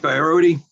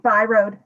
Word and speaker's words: Byrode: Barodi. Yeah. Yin Wu and Daniel Casagrady. Good afternoon. Thank you. Thank you. It's Byrode. The E is silent. Some ancestor stuck it on.